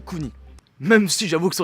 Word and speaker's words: Kuni: Et oui, le U se prononce OU, donc on dit Kuni.